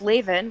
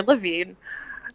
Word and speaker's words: Lavin: No, but it's Lavin, rhymes with engraven. It's not Levin or Levine.